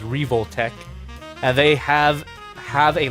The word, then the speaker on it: Revoltech: it is revotech I I pronounced it revtech earlier but uh because I know how to read Katakana now I've confirmed that it is revoltech and they have have